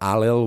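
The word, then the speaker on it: Ailill: Sometimes he is described as Allil, beg your pardon, Allil spelled like O-I-L-L-I and O-I-L-I-L-L, as opposed to Allil, which is A-I-L-I-L-L.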